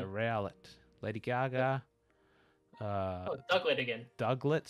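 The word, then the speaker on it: Diglett: Duglet, spelt with a D-I-G, but pronounced like a Woody.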